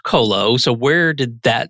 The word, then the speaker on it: Qolo: a unique company name so it's q-o-l-o and pronounced colo so where did that